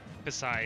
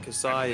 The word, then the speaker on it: Kasai: It's pronounced Kasai? Kasai, yeah. Okay, well, Kasai is, he previously lost to Offsign, but he showed, like, some wild ledge-trapping potential, so...